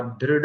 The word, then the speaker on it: दृढ़: संतुष्ट सततं योगी, यतात्मा दृढ़ निश्चय। दृढ़, दृ, द्रु नहीं, ध्र, ध्र ऐसा है। मुख बंद नहीं होगा, होठ खुले रहेंगे। ध्रुव ऐसा भी नहीं होगा, दृढ़, दृढ़, दृढ़।